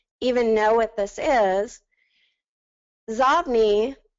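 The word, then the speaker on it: Xobni: Zobni, actually it was supposed to be called Zobni, but then people started pronouncing it Zobni, so they kept that name. It's inbox spelled backwards.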